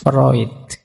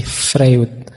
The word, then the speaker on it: Freud: berpengaruh tentu saja ee gagasan psikoanalisisnya Freud. Ini tulisannya Frewood. Biasanya kalau mahasiswa baru membacanya masih frwood gak apa-apa. Masih murni berarti masih asli. Belum terpengaruh barat.